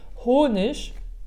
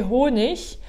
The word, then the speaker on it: Honig: Le ig à la fin d'un mot est prononcé soit ich, soit ik. D'accord? Ça peut être les deux selon les régions. Donc tu peux entendre honig ou bien honig. Les deux sont possibles.